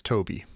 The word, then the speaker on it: Tobe: And I think, is it Tobe or Toby? Is it Toby? Is it pronounced Toby? I had to look it up finally because I've always never known, and it's Toby.